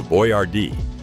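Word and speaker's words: Boyardee: To scale his business for the mass American market, he intentionally altered the spelling of his name on the label to Boy-R-Dee so that non-Italian store clerks could easily pronounce it.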